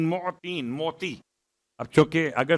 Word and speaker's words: معطین: بہترین۔ یا خیر المعطین، معطین، میم عین توئیں یہ نون، معطین، موتی۔ اب چونکہ اگر